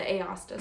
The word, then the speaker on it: Aosta: Yes, the Aosta Sweater.